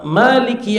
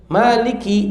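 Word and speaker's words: مالك: Kemudian ee Maliki yaumiddin ya. Maliki yaumiddin raja hari pembalasan ya. Maliki dibaca oleh al-Asim, Alqisai dan Yaakub dengan menambahkan alif Maliki. Sedangkan qiraah lainnya membacanya tanpa alif. Malik keduanya benar.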